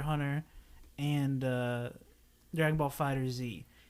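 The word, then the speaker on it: FighterZ: and uh dragon ball fighter Z insanely it's just Fighters it's fighter Z in my mind Fighters is stupid there's a z there if it's Fighters it'd be spelled with an S but uh dragon ball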